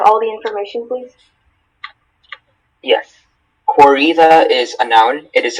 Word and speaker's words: corrida: Are there any alternate pronunciations? Just corrida.